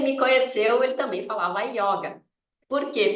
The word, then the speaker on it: yoga: falava yoga por qu porque o carioca tem esse sot com ó aberto tá gente e claro lá daquela época da década de 60 foi disseminado essa pronúncia né a yoga com o aberto tá então o yoga